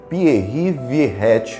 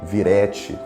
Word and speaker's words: Pierre Viret: É Pierre Viret ou Viret.